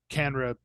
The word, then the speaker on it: CANNRA: last topic because um, Canra sent a letter to the House And what Committee is on Canra Agriculture. for our So listeners? Canra is the Cannabis Regulators Association. It's spelled CANNRA, Canra.